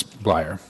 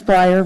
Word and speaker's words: Briar: any other questions for miss flyer am i pronouncing that correctly i apologize it's close it's briar right you got it okay